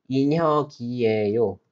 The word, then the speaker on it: 인혁이에요: The pronunciation is 인혁이에요.